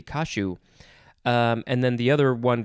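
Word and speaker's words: caju: one is spelled c-a-j-u i wonder if they if that actually becomes more of a shi sound so is it kashu maybe it could be kashu and then the other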